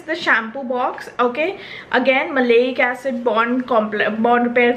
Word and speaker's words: maleic: it because I really liked their oil the malayic acid oil okay I was pronouncing it as may like everyone makes mistakes so the maleic acid Bond repair oil and on that note